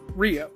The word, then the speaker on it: REO: But I assure you that the company was originally pronounced Rio.